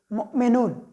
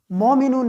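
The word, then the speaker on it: مؤمنون: For example उसकी ये ले लें, जैसे मुमिनून, तो हमने मुमिनून को मोमिनून नहीं पढ़ना, हमने उसको पढ़ना है मुमिनून।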